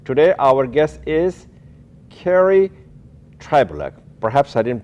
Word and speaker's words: Trybulec: you the viewer today our guest is Carrie tribol perhaps I didn't pronounce her name correctly but she will she